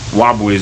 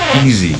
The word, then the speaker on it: Wu: So my name is um Wu. So everybody calls me a but Americans pronounce it easy because of the spelling.